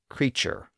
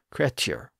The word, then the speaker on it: creature: Consider the word creature, which would have originally been pronounced more like creature. The modern form creature obviously has a CH sound in place of that original T sound.